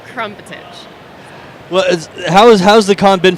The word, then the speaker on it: Krmpotich: It's Krmpotich. Just you got to throw in a few extra vowels every time. But I promise that's how it's said.